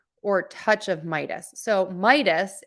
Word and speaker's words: Midas: touch of Midas so Midas is my dust Midas the Aegis I'm not